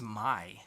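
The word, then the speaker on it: Mie: I think it's Mai. Mai? Oh, I don't know. okay. M-I-E. I would say because P-I-E is pie. Mai.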